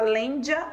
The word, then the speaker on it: lêndea: Lêndea. Tem gente que fala lêndia, mas a grafia é com E.